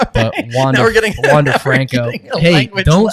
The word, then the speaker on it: Wander: we should be betting Wander Franco. It depends on your pronunciation of Spanish, because it's he's from a Spanish-speaking country, so the A sound makes an A sound, so it should be Wander Franco.